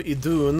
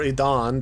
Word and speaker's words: Idun: So that's one of the apples of Idun, or Idan, depending on what pronunciation you use.